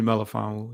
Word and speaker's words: Melifonwu: You said Melifonwu, pronounce his name. Iffy Melifonwu.